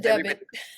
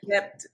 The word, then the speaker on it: debt: Cause she said debit. He said debt.